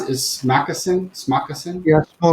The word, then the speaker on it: Smakassen: is like you're having the, how do you pronounce it? Is Smoccasin? Yeah, Smoccasin.